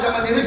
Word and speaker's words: சம்பந்தி: சம்பந்தினா உச்சரிப்பு தப்பு. சம்முனா நல்ல, பந்தினா உறவுன்னு சொல்லணும். ஆனா சம்முனா நல்ல, மந்தினா குரங்கு. வாங்க நல்ல உரங்குங்கிறா, அவரை ஆமா உரங்கு சோறு கூப்பிடக்கூடாது. என்ன சொல்லணும்? சம்பந்தி. பானா இருக்கணும். பந்தம்னா உறவு.